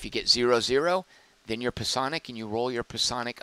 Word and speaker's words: Psionic: That is how you pronounce that word, as I learned in 7th grade. Psionic.